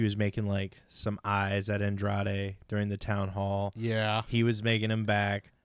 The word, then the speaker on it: Andrade: Can't pronounce the whole Edward thing. James Olmos. I love it. All right, it's Andrade.